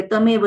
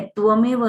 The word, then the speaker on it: त्वमेव: एक तो सीख लो, अच्छे से बोलते आता है तो ही बोलना, वरना बहुत लोग ना गलत बोलते, तमेव तमेव बोलते, तमेव नहीं है त्वमेव है।